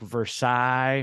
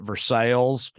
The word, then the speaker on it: Versailles: of the southern states have a penchant for taking the names of like better more Metropolitan foreign cities like Versailles or you know and then like and then they pronounce it Versailles you know like that type of